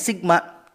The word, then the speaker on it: sigma: Nah, yang kayak huruf e itu dibacanya sigma.